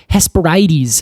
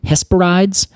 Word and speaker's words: Hesperides: golden apples from the Hesperides, I think is how you say this. Oh. Sorry if I'm saying it wrong. It looks like it's just spelled Hesperides, but I think it's Hesperides.